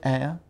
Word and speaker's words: heir: Can you spell the word air? An air. Air. Like I said, an honest man, an orange, an air. I don't know how to spell it because I don't know what you are pronouncing it. Air? H-E-I-R. H-E-I-R.